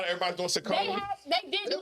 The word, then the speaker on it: Saucony: Sauconys. Sauconys are popping off these days. Saucony.